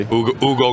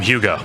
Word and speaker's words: Hugo: I called him Hugo. Hugo. Yeah. I learned I later learned that the H is silent.